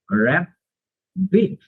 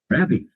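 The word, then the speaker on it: rabbit: এখানে আবার উচ্চারণ করার একটা টেকনিক আছে, সেটা হচ্ছে যখন দুইটা কনসোনেন্ট একই রকমের হয় তখন একটা কনসোনেন্ট সাইলেন্ট হয়ে যায়। তাহলে এখানে কিন্তু যদি আমরা উচ্চারণ করি এভাবে র্যাপ বিট, র্যাপ বিট, তাহলে কিন্তু এটা ভুল সাউন্ড আছে।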